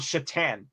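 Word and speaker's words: Šatan: as a couple other teams uh Senator Miroslav chatan which of course is spelled sat t- an or Satan uh fun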